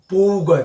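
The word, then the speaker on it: bow: 활이라는 뜻이 있습니다 활 이럴 때는 발음이 보우가 돼요 보우 바우가 아닙니다 보 물론 화살은 겠죠로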